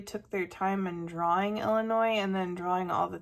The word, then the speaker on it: Illinois: And I know that sometimes pronounced Illinois with an S and sometimes Illinois silent, depending on who you ask.